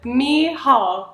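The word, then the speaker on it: Mícheál: M meall oh okay the C is silent me Hall no more C all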